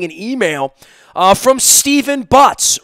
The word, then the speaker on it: Butz: wound up getting an email uh from steven butts rhymes with us which is local enough he is